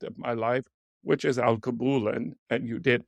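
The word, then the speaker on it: Alkebulan: And that led me to my latest, biggest project of my life, which is Al Kabulan, and you did pronounce it correctly.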